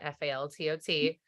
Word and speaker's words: Faltot: I'm at Faltot. There's a T on the end of it. The last T is silent, Faltot.